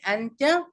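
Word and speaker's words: أنتَ: আন্তা এখানে যদি দেখেন দুইটা একই শব্দ কিন্তু একটা উচ্চারণ হবে আন্তা আর আরেকটার উচ্চারণ হবে আন্তি আচ্ছা আন্তা মানে ইউ অথবা তুমি আন্তা ছেলেদের ক্ষেত্রে ইউজ হয়।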